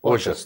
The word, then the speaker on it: Ojas: O-J-A-S. Ojas, tá.